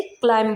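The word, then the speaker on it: climb: इसी तरह से क्लाइम में भी बी से पहले एम आया और बी लास्ट में आया, तो इसे क्लाइम बोलेंगे।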